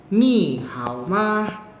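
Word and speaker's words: 你好吗: Ni-nya ni-nya nada ketiga di sini ya. Hao-nya nada ketiga. Ma-nya itu gak ada nada. Jadi pengucapannya itu singkat ma gitu. Gak usah dibuat panjang gitu.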